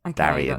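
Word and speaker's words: Daeron: think about it uh Darren Darien Darren Darren Darion Darian is the way I should pronounce it he is uh the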